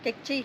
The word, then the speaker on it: Q'eqchi': esta zona de Lanquín, ¿cómo es que se pronuncia, señorita? Quechí. Quechí.